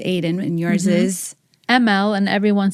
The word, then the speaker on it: Amal: Which a lot of people would read Amal. Right. And I have spent my whole life trying to explain that A sounds like E and it's pronounced Amal.